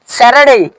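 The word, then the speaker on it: Saturday: name of seven dress স্যাটারডে স্যাটারডেড স্যাটারডে হবে না স্যাটারডে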